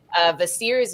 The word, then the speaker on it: Kvasir: But Vasir's mead, which is spelled Kvasir.